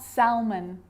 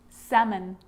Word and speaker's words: salmon: this makes it easier in these words where L is really difficult to pronounce then it's silent ready let's try it could could should should talk walk yoke half-caf salmon not Selman salmon so we got through